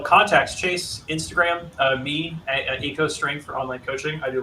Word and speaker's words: Eco Strength: So if you need any help, Is that how you pronounce that? I mean, Echo. I don't know, man. It's just like it's part of my name and then strength. So that was just the easiest website title to come up with. So you can say it however you want. How would you read this, Mick? If you were reading, I read as Echo Strength. okay, there you go. That's the new pronunciation, technically and officially.